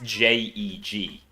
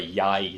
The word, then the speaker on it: jeg: Anyway, in Norwegian it's J-E-G. So when I read that and pronounced it as Jeg, didn't go great for me. You're looking for more of a yai sound.